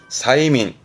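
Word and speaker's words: 催眠: 그래서 발음 또한 사이민. 최면입니다.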